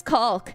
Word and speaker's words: caulk: Also, I'm not pronouncing it correctly on purpose, because it's very, I'm sorry, it's a naughty, it sounds like a naughty word if I don't pronounce it with the L. I'm saying the L. Nice caulk.